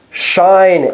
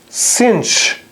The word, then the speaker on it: sinh: The other one is more challenging to pronounce, because there are two pronunciations of it. One is shine X, and the other is cinch X.